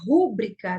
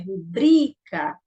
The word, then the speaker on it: rubrica: Mas a pronúncia correta é rubrica. Então, o bri é o mais forte.